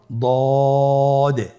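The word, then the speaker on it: ضاد: আলহামদুলিল্লাহ, দদ হরফটিও মোটা হরফ, মোটা করে উচ্চারণ করতে হবে।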